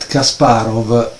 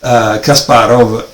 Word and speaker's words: Kasparov: And so you say, okay, Kasparov is Russian, it's from Moscow because he lived there, right? He played these matches with Karpov. Plus, Kasparov finishing this V that is pronounced like a F in Russian, right?